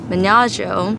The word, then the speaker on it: Menaggio: And so we had our car brought up because we knew we wanted to drive to Menaggio. Menaggio? Yeah. And no, I said it right.